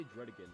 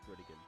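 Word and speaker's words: Druddigon: Oh, I say Dredigan because the anime they pronounce it as Dredigan.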